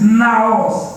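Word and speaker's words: ναός: And the word that the Holy Spirit used here in Greek is pronounced naos, N-A-O-S.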